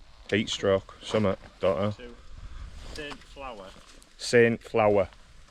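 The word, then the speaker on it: Saint-Flour: Saint Flower. Saint Flower. Not as in Flower, as in what you bake with.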